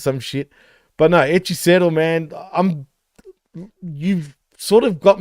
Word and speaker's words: Hechicero: Like, that's not the white guy way of saying it. You know what I mean? Hechicero, or like McGuinness would say.